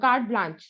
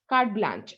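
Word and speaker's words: carte blanche: okay no doubt that the pronunciation is card blank bla card blanche sorry card blanche okay so uh but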